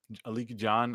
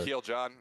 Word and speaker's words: Akil John: for ambition, it was Aliki Aliki John. I think that's how you pronounce his name. John is fantastic. He is such a good Oh, dribbler. Akil John. Akil Akil John. John, Yeah. that's how you pronounce it.